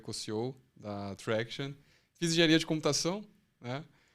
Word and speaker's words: Tractian: A gente já escolheu esse nome para ser pronunciável em português e inglês, né? Tá bom. No português é Traction. Tá, Traction.